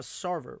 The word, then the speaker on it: Sarver: governor uh Slash owner Robert uh Sarver right is that how you pronounce it I would say so yeah Robert starver uh is